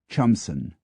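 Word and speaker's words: Cholmondeston: o n d s t o n is chamson w y a r d i s b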